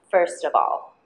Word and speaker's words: first of all: words of and all of ends with consonant V sound and begins with the vowel a of so will link them together of all okay let's set all three words together first of all pronunciation tip first of